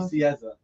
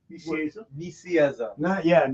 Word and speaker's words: Nicieza: Nicieza. Nicieza.